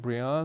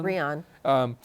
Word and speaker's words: Brianne: with a woman named Audrey, and is she pronounce it Brian? Brian.